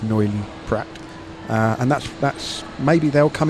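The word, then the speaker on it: Noilly Prat: I believe you pronounce a T on the end of Neuilly-Prat.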